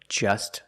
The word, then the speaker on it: just: or just saw. We see the T is between consonants, so don't pronounce it. It's silent. Just saw. You link the S with the S. Link them together.